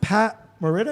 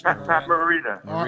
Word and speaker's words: Pat Morita: I think Pat Merida, is that how you pronounce it? That's Pat Morita.